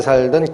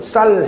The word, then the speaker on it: 쌀: 영남과 호남이 갈라져서 오랜 기간 살면 경상도 분들은 쌀 해봐 그러면 살 그러는 거예요. 쌀 사러 가자 그러는 얘기를 살 사러 가자 이렇게 얘기한다. 쌀자를 발음을 잘 못해요.